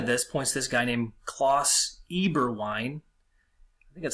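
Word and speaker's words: Klaus Eberwein: the reply to this points this guy named cloths Eber wine that's how you say his name a person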